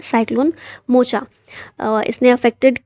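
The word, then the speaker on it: Mocha: suggest किया गया है मोचा जो है इसे यमन लैंग्वेज में मोखा के रूप में प्रोनाउंस किया जाता है फिर यहां पर ऑपरेशन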